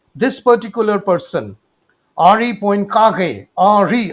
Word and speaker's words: Henri: But it is basically prior to Lorentz, this particular person, Henri Poincaré, Henri, I mean to say it's a French kind of a pronunciation.